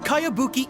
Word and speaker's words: Kayabuki: a really strange name who's this cowabunga it's pronounced kayabuki ek that would be me outlander brigade is